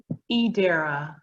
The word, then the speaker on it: Adira: Am I saying it right, Adira or Adara? Edera. Edera. There's no E there, please. No, the I is pronounced like an E.